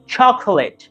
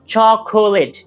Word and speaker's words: chocolate: Second one ইজ chocolate, নট chocolate। এখানে 3টা syllable না, 2টা সিলেবল।